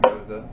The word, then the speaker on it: Gose: a German style of beer it's called a goza it's spelled g o e but pronounced goza um historically it's a German wheat beer that's